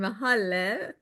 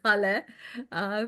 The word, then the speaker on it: Haleh: I'm Haleh, pronounced like hallelujah. So it's Haleh.